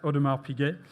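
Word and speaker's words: Audemars Piguet: uh his tenure uh very well-known tenure at Odmar Pig. I I hope I've pronounced that correctly.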